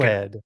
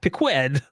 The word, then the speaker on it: piqued: I just pronounced the whole word. I'm American. Pequed. No, piqued.